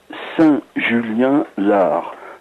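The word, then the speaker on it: Saint-Julien-l'Ars: BP 3 86 800 Saint-Julien-Lard. Lard, ça s'écrit L'_ARS.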